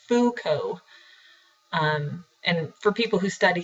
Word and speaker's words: Foucault: He's French, so his name might look a little funny, but it's just Foucault.